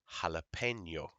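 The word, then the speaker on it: jalapeño: called an inye and it makes the sound Nia and you will see this word and I'm sure you said it in the word jalapeno jalapeno that's what the enie goes yeah okay now there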